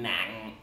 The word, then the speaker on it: nặng: And finally we have the heavy tone, nang, which is the dot. And that one is kind of a falling glottal stop, nang. Also in the south, they don't really pronounce the nang glottal stop. They just kind of go nang.